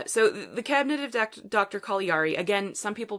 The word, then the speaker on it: Caligari: what I pronounce at Calgary Calgary like the city in Canada yeah but it but again it's supposed to be an Italian name so should be call